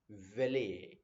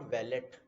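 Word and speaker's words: valet: These kind of people are known as वेले. They are नॉट वैलेट. T silent रहता है इस case में. काफी सारे वर्ड में टी साइलेंट रहते हैं, बट इस केस में अभी यहाँ डिस्कस कर रहे हैं कि वेले वर्ड जो है वो टी साइलेंट रहेगा.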